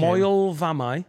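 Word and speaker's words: Moel Famau: Moel Vamai. Oh, don't ask him. Moel Vamai.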